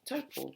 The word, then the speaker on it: Taupō: You can just say taupō.